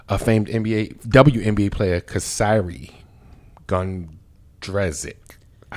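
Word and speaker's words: Kysre Gondrezick: um sister of a famed nba wnba player kasiri gundrezic i said it right slow but right um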